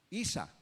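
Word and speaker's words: عيسى: ¿Cómo la pronuncian en árabe? Isa. Usando siempre la como primera y lo pronuncian simplemente Isa en árabe.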